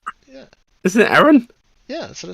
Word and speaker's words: Aaron: It sounds like you're saying Erin. I mean, isn't it? I mean, My character. yeah. It's Aaron. Aaron. Yeah. Isn't it Aaron?